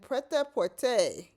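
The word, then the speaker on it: prêt-à-porter: So let me try that again on the pronunciations of those 2 words. Haute couture and pret-a-porter.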